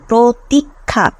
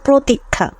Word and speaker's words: প্রতীক্ষা: রোক থেকে শব্দটি এসেছে থেকে প্রতীক্ষা শব্দটির মিশুদ্ধ উচ্চারণ হচ্ছে প্রতীক্ষা প্রফ রসিকার কসন্ত খ আকার প্রতীক্ষা মানে উচ্চারণটা এরকম প্রতীক্ষা বানান এটা হলেও আমরা উচ্চারণ করি প্রতীক্ষা সো আমাদের উচ্চারণ হচ্ছে এটা বার্স্ট বার্স্ট ইনটু